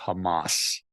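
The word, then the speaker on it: חמס: violence against your brothers the pronunciation of the Hebrew word for violence there is Hamas wow so I don't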